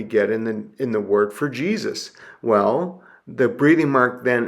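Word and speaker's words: Ἰησοῦς: So this is pronounced Jesus, Jesus. You could also put kind of a y sound to Jesus, Jesus, because this is a unique example. In Hebrew, the y sound is a yod, and when Hebrew words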